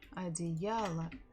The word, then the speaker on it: одеяло: Одеяло. Одеяло. Одеяло. So the stress falls on Я. Our letters O, they are not stressed. That's why we pronounce them as A.